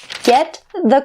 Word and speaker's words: get the: So the T here in get is stopped and the word the is more clear.